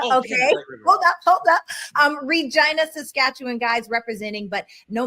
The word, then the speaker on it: Regina: I'm from Regina. The Interesting. slogan is the city that rhymes with fun.